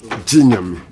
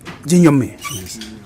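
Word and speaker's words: Gye Nyame: Jinyami. Jinyami.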